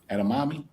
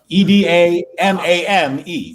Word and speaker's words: edamame: a demi something like that right enemy right edamame okay that thing e-d-a-m-a-m-e how do you pronounce that edamame okay right thank you for